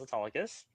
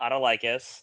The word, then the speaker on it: Autolycus: And then Saturday, I was Autolycus, not Autolycus.